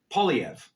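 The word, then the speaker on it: Poilievre: there's this a dude named Pierre POV is the way you pronounce it and dude is uh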